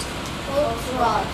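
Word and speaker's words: Volksraad: So it's pronounced with a T. Volksrad. Not with a V sound, but it's spelled with the letter Z, not the letter D. T. Yeah. So the D makes the T sound.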